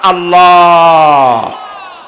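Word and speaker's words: الله: আল্লাহর নাম আল্লাহ। বলেন তো আল্লাহ নয়। কিন্তু আল্লাহ হচ্ছে অশুদ্ধ। শুদ্ধ হচ্ছে আল্লাহ। বলার সময় মুখটা গোল হয়ে যাবে।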